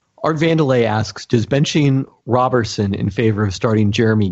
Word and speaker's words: Roberson: There's another name that people say two ways. I've heard it Roberson many times. Well, because it looks like Roberson, but that one is pronounced Roberson.